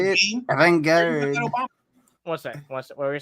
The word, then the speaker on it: avant-garde: Avant-garde. What's that? What were you saying? Oh, I was just gonna say, how did Keon say it? It's avant-garde. Yeah. Avant-garde. Avented Garde, yeah.